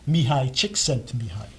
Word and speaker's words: Csikszentmihalyi: Pennsylvania and I'm gonna and I love to pronounce this name because a lot of people can't accept those in the field me hi chick sent to behind okay okay from University of Chicago who wrote